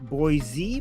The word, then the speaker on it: Boise: But we remember it was not boys. It's Boise.